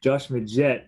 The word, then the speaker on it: Majette: get the name wrong is it or magette josh how do you say that say wrong twice there you go josh majette obviously uh we were